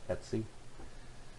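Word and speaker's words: /etc: machine are primarily stored under the DTC directory and that's pronounced etsy so this will have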